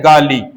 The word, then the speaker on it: गाली: इसी प्रकार शब्द है गाली, इसे गाली नहीं कहकर क्या कहा जाएगा? गाड़ी।